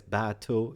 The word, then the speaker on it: bateau: get so uh battle and you pronounce i couldn't find an easy way for american or english to pronounce battle but i guess bato is okay it's it's a boat